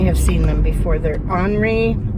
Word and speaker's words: ANRI: They're Henri. I think that's how you say it. It's ANRI.